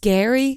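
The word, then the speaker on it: Gerry: but it's pronounced scary it's pronounced Gary yes but it's spelled like Jerry yes and and why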